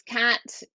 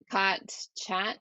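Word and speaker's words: khat: And ladies and gentlemen, when I say cat, I don't mean the animal. It's spelled No, there were no K A cats. K H A T. What is that, and why did it increase the terror in your situation? So it's cot, chat.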